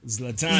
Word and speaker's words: Zlatan: Is it spelled L-A-T-A-N? No, it's spelled Z-L-A-T-E-N. So it's Zlatan.